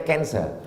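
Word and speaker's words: cancer: Tulisannya C A N C E R. Orang Barat membacanya kanser. Orang kita susah menyebut kanser.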